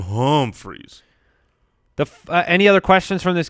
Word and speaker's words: Humphries: that could be okay pronounce that with an uhm freeze for me oh um freeze thank Adam home freeze any other questions from